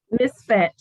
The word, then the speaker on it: MISFET: MISFET.